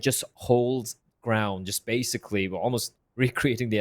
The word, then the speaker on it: Alamo: holds ground just basically almost recreating the Almo or Alamo I think it's Alamo that's how I pronounce it uh I'm not